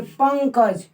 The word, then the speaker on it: पंकज: पंकज, पंकज, इसमें न नहीं है, इसमें उच्चारण हो रहा है अंग का, पंकज, अंग, अंगज, ठीक है ना।